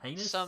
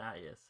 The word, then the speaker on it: Hyannis: There are some Heinous? cities. It's Hyannis.